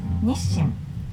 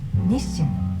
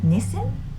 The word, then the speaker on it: Nissin: the one who invented instant Ramen Japanese natives pronounce it nishim nishim I noticed some of the non-japanese speakers call them Nim it sounds a little bit different to me